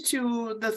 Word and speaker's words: Thoth: um it's sort of like is this prehistory to the those stories to to the witch stories thoughts how how do you pronounce it t-h-o-t-h oh oh I see or